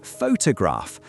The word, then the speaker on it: photograph: For example, in the word photograph, the stress is on the first syllable.